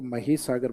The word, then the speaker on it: महीसागर: तो इसको माही नहीं बोलना। इसको माही सागर बोलना है। स्पेलिंग वो माही जैसी दिखाई देगी आपको। लेकिन हिंदी प्रोनाउंसिएशन इसका क्या लिया गया है? महसागर डिस्ट्रिक्ट है।